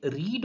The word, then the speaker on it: read: Second और जो third form होती है उसको हम रेड पढ़ते हैं, रीड ना पढ़कर रेड पढ़ते हैं, लेकिन स्पेलिंग सेम ही रहती है।